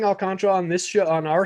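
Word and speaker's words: Alcántara: going to say sandy alcantara alcantara i've tried i'm trying to get better on that pronunciation it's there's a little hint of that that third a a in there at the end but if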